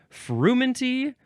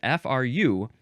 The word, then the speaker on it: frumenty: Frumenty or fermenty? Huh. Oh, well, it's spelled a couple of ways. Fermenty, that's the second one. So the first one is frumenty, frumenty.